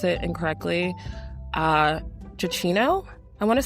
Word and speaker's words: Giacchino: His name is Michael, I'm sorry if I pronounce it incorrectly, Giacchino, I want to say.